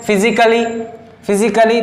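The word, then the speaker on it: physically: फिजिकली, तो यहाँ पर देखो डबल एल बाय है तो ये ए आ रहा है ना, यहाँ पर ए क्या है? साइलेंट है, ठीक है ना।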